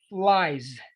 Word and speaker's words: flies: The E is silent. Okay. You just pronounce flies, tries.